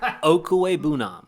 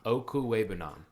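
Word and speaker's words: Okwuegbunam: Okuwebunam. Okuwebunam.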